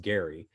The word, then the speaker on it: Gerry: his name was gary we pronounce it gerrymandering these days but his name was pronounced gary and they figure out